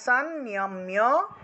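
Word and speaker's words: সংনিয়ম্য: তারপর দেখুন সানম্য সানম্য এখানে আমরা জানি যে অনুস্বার কোন একটা শব্দের মাঝখানে থাকলে ন এর মত করে উচ্চারিত হয় তাহলে সাননিয়াম্য ম এর সাথে জ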